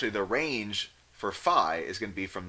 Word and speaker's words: phi: is our v value or fee I'm gonna try to be better about this I usually pronounced it with Phi so I'm just gonna go with Phi in class that's my pronunciation of this all right so this